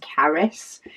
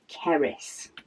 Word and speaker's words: Carys: But yeah, my second eldest, Caris, her name is spelt Carys, and a lot of the time people can't pronounce her name. For some reason, they pronounce it as Keris.